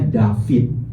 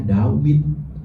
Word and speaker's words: Dawid: Makanya orang Ibrani modern membacanya David. Masuk ke ke Inggris jadi David. Tapi orang Ibrani kuno seperti orang-orang Ibrani yang ada di Yaman eh orang-orang Yahudi yang ada di Yaman atau orang-orang Yahudi yang masih mewarisi ee bahasa Ibrani yang tidak mendapat pengaruh dari Aramaik, mereka membacanya Dawid sama dengan huruf Arab Daud bukan David.